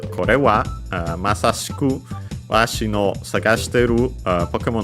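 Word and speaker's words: は: And then we have, of course, the topic particle wa, written as ha.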